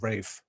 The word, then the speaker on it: Ralph: I just saw some uh stupid video about why he pronounces his name like that and I was like, "Oh, this could be interesting." And then he was just like, "It's like an old English way."